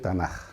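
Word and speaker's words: Tanakh: sonido K pero cuando Esa letra que es la letra k pas ocurre al final de una palabra adquiere el sonido de J por eso es dicir tanaj no Entonces cuando se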